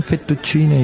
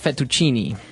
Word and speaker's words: fettuccine: What about fettuccine? Fettuccine. Oh, it's fettuccine. Fettuccine. In American, we say fettuccine.